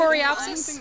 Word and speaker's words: Coreopsis: How you pronounce it? What did you say it was again? Coreopsis. Coreopsis.